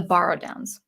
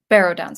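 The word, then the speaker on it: Barrow-downs: ariador such as the borrowdowns yeah barrow downs i think actually is how you pronounce it yeah oh oh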